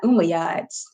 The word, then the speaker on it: Umayyad: Let's make sure it's Umayyads and it's not Umayyads. Because sometimes I hear like multiple pronunciations in my head.